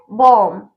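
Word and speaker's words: bomb: अभी दूसरा है बॉम्ब, इस बी इसमें भी बी साइलेंट रहेगा।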